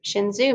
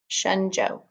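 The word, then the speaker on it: Shen Zhou: tower above the figures shinzo made the figures small to emphasize their lesser significance in relation to nature and i've been pronouncing that wrong as shenzhou shenzhou is how i should be pronouncing that small figures against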